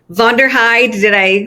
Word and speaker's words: Vonderheide: I'm your host, Jesika Miller, the mind trainer, and today we have Vonderheide. Did I pronounce it correctly?